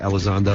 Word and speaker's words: Elizondo: A guy's name I'll never be able to pronounce, but Hector Elizondo? Yeah, Elizondo.